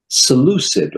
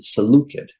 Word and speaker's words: Seleucid: Seleucid, or depending on how you pronounce it, Seleucid.